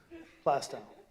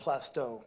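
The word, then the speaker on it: Plaistow: Plastau, not plasto. Plastau because I'm not a towny. That's how I pronounce it.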